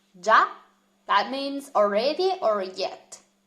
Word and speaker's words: già: Then we have già with an accent on the a, già.